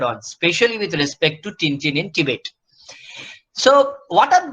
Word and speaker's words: Tintin: If you actually get for the French pronunciation, he's called Tintin.